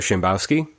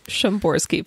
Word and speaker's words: Shamborsky: last weekend at C2E2, Shambowski. It's Shamborsky, Paul. We've been through this.